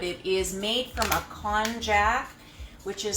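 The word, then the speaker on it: konjac: looks like but it is made from a con jack which is spelled konj ac it's a root vegetable which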